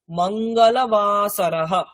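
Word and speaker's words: मङ्गलवासरः: Next নিচে মঙ্গলবার, মঙ্গলবাসরः, মঙ্গলবাসরः, মঙ্গলবাসরः মানে মঙ্গলবার, মঙ্গলবাসরः মঙ্গলবার, মঙ্গলবাসরः, মঙ্গলবাসরः নয়, মঙ্গল, লটা পুরো উচ্চারণ করতে হবে, মঙ্গলবাসরः মঙ্গলবার।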